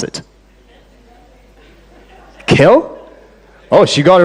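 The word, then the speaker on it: Kjell: j e l l Norwegian how would you pronounce it kill oh she got it right a keynote speaker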